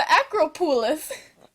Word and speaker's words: Acropolis: It's the Acropolis.